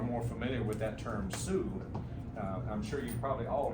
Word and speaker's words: Sioux: in those days and if you look how that that name is spelled s-i-o-u-x French so uh the term Sue is actually not the original name but that's where that came from and many of those